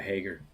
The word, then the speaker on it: Heger: Got Benz at first, Giles Wachowski, DeClue at short, Heger. Is that how you pronounce that, Heger? Yeah, Hager. It's Hager with an E?